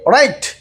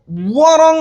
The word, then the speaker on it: wrong: এরপরে WRONG রং। আপনি খেয়াল করেন, যদি আমি ডাব্লিউকে বাদ দিয়ে দেই, কেন বাদ দেওয়া হয়েছে? বাদ কিন্তু এমনিতেই দেওয়া হয় নাই, কারণ তাকে বাদ দিলে উচ্চারিত হয়, এই কারণেই মূলত বাদ দেওয়া হয়েছে। ধরেন এই ডাব্লিউটা নেই, RONG রং, তারপরেও রং হয়, ডাব্লিউটা লেখার মধ্যে আসলেও রং হয়, কাজে এটা ওয়ারং হবে না, বরং রং হবে।